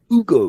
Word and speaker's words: Hugo: Yeah, or Hugo if you want, or Ugo, because they don't pronounce the H. Ugo.